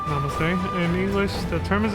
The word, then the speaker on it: namaste: Religious and secular culture come together in the increasing use of namaste, pronounced namaste.